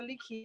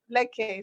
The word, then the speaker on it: Leke: Leakey, you said we're not going to have a show. Oh, Leke, sorry. I know it was like in Zambia you might pronounce it Leakey, but in Cameroon it's Leke.